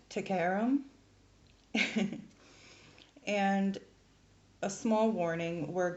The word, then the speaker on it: Taghairm: are in this as well so it is pronounced to Karam and a small warning we're going to be